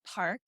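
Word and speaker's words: Parque: a little different yeah it's spelled p-a-r-q-u-e that's pronounced Park and it's in Kirkland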